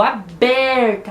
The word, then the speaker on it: aberta: E nós precisamos ver qual que é a sílaba tônica, então, da palavra aberta.